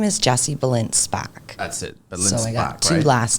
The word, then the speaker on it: Balint Szpak: Deets right here so Jesse how do you pronounce the middle name oh sorry my full name is Jesse belinspack that's it two last names and your trade